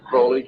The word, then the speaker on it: Crowley: aliser Crawley name pronounced crley to rhyme with holy and uh these satanists